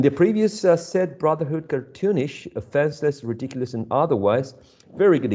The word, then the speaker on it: offenseless: How many syllables and which one is the most prominent syllable in the word offenseless? There are 3. Okay. Okay, there are 3. And which one is the most prominent one? The second one?